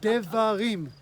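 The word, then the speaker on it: דברים: No, actually, you say Devarim.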